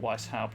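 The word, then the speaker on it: Weisshaupt: Or, as much as it pains me to say, they do pronounce it Weishaupt, so Weishaupt Fortress, with its walls of living rock towering over the desolate plains below.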